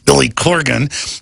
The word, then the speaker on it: Corgan: Bots crazy out there on different internet platforms Billy Corgan is our guest or as I say it in Texas draw or re butcher names Billy Corrigan Billy Corgan Leanne came here and said you